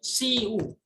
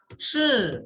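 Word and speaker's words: 吃: Selanjutnya makanan itu bukan siu. Bukan siu, tapi bacanya itu ingat SH ketemu I itu dibaca E. Jadinya shi, bacanya shi ya.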